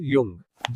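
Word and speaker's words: Jung: लेकिन जो लोग इससे समझकर इंप्रूव करते हैं वही लाइफ में आगे बढ़ते हैं और balanced personality develop Karl यंग जिसका जे एक्चुअली एज प्रोनाउंस होता है नियो एनालिटिकल थ्योरी ऑफ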